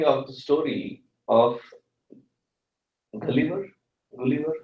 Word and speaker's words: Gulliver: Gulliver, how do you pronounce it?